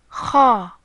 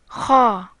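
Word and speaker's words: خاء: The third and last letter in this group is Kha. Kha. This letter is pronounced like in the English word loch or the Spanish word naranja, which means orange.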